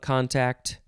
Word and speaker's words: contact: second form of contact you can emphasize either syllable contact it is a verb